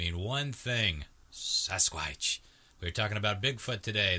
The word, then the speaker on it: sasquatch: Johnny jerk nobody would he couldn't pronounce I remember his dad was the one that told us it was sasquatch it probably got the whole myth going but he couldn't the kid good pronounced sasquatch he can only say sighs Squatch so he he was